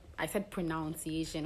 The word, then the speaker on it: pronunciation: So the vowel in the second syllable is said as ah, not ow, ow. So it's pronunciation, not pronunciation.